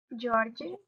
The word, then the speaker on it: George: So here we have this E, which is not pronounced because it has another vowel after. But here we have this E, which has to be pronounced because it's the only vowel that is.